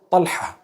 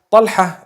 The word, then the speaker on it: Talha: Talha. Talha is the proper pronunciation.